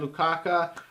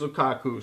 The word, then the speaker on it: Lukaku: for our last video I said Lou Kaka and my apologies I I meant to say Lukaku and it is Lukaku so I apologize because